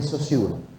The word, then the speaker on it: Saussure: Saussure, Ferdinand de Saussure se pronuncia.